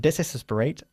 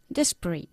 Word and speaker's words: desperate: to his desesperate situ okay not desperate desperate we say in English desperate desperate good the ice cream